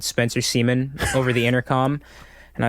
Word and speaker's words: Semien: and I've always been saying your motherfucking last name wrong, but can you say it for me? Semien. Semien. Yeah. I've been calling this nigga Spencer Semien.